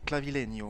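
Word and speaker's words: Clavileño: clavileno avec la avec la tilte sur le N ça fait clavileno ouais ok premier parmi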